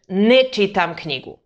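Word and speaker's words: ne čitam: incorrect obviously so remember even though the negation uses two words you always pronounce them as one word let's look at some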